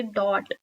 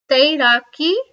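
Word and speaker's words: दौड़: or running running is do a bit difficult to pronounce but don't say dot it's do DOI or or means uh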